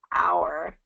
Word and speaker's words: hour: So hour and even hour. Hour is even worse because not only do we not pronounce the H, but we break up the rest of it into two syllables.